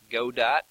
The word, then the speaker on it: Godot: available oh I haven't looked like this one Godot that's the right pronunciation some of these game engines is simply